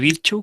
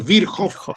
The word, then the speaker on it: Virchow: Originalmente es el ganglio de Troisier-Virchow o Virchow, pero Virchow, la CH es como J se pronuncia.